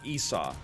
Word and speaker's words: Esau: not co-op this is the new character it's pronounced esau yeah uh esau jacob and esau got him